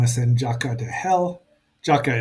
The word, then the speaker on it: JAKQ: Jaka is how they say it in Japanese.